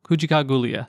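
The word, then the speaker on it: Kujichagulia: hard one Kucha oh man no kuika gulia kui gulia that's it ha too many syllables anyway that is self-determination and it's encouraging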